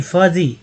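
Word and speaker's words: fuzzy: फजी, फ बड़ी, Fuji नहीं, फजी, यू को यहाँ पर क्या बोला गया, फजी, अ बोला गया है तो यहाँ पर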